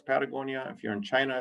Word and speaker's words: Patagonia: picked that word because it's one of the very few words in the world that are spoken, that's pronounced the same in every language in the world. So if you're in Africa, it's Patagonia.